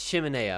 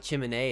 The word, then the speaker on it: chimenea: It's chimenea, I believe. Not chimney, it's chimenea.